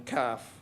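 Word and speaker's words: CAF: America and the Caribbean calf the English pronunciation Mr Deputy in the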